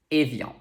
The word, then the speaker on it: Evian: to have it so we know that the first sound is a next we have i before another vowel sound which makes it sound like yeah and finally we have the nasal on to pronounce it properly you have to shape your mouth like the letter r and make a nasal sound so try it with